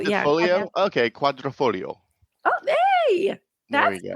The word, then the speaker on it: Quadrifoglio: I would say quadrifolio. I think a Foglio or Folio. I've heard it both. Is it Yeah. Folio? Okay, Quadrifoglio.